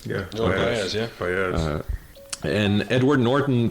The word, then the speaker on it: Joan Baez: I'm not sure how to pronounce this correctly. Joan Baez? Yeah, Joan Baez, yeah.